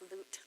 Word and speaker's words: Lot: Lot, however you say his name. It's written Lot in English. It's pronounced Lut or Lot in the Hebrew.